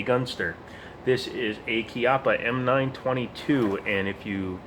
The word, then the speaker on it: Chiappa: start with the name Chiappa it's not Chiappa it's Chiappa it's an Italian name for an Italian company that isn't actually Italian so you pronounce it Chiappa now the reason I